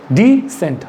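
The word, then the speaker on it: dissent: इसका उच्चारण क्या होगा? डिसेंट। Pronunciation is डिसेंट। हल्का सा डी बोलिए और फिर सेंट बोलिए।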